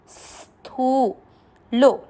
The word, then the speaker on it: स्थूलो: नहीं आ रहा है, देखो आधा से का उच्चारण इस तरह से करना है, और थू को खींचना है, स्थू लो।